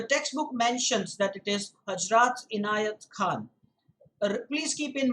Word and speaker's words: Hazrat: It's Hazrat.